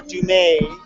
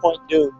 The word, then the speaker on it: Point Dume: At sunset on Point Dume in Malibu, or Dumay, as the case may be, as I'm sure the French pronounce it, Dumay. But here it's known as Point Dume.